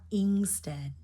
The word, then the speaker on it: instead: that in instead instead so now you got the short I for the first syllable and the second syllable is the e as in sit I'm sorry as in set first syllable is sit second syllable is set so now you got